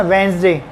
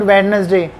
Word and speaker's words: Wednesday: तो आपको ध्यान रखना कैसे पढ़ना, वेंसडे, नॉट वेडनेसडे, वेंसडे।